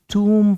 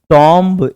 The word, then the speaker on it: tomb: अगला है TOMB, आपको टूम पढ़ना है, इसको टॉम्ब नहीं पढ़ना है।